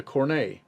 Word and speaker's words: cornet: fifth foot stops is called the cornei spelled like cornet it's especially useful as